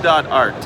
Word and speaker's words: Fibo.art: It's called Fibo.art. And you spell it, please? Yeah, FIBO.ART. FIBO.ART. Oh, B. FIB as in ball, Yeah. O.ART, like Fibonacci, Fibo.art.